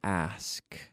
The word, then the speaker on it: ask: But also we practice it so that we can know the proper pronunciation of the word ask, ask, ask. It's like, qué asco, ask, ask.